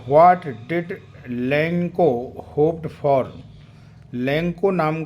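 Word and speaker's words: Lencho: इसको लेंचो करके भी कोई प्रोनाउंशिएट करता है, एक्चुअली इसका प्रोनाउंसिएशन होगा लेंको।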